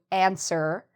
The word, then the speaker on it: answer: So when the telephone is ringing, you might ask somebody to answer the phone. So you see, it's a very easy pronunciation. As long as you remember, don't pronounce the W.